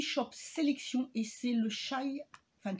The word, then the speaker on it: chai: Et c'est le chai... Enfin, chai, parce que ça se prononce plus comme ça.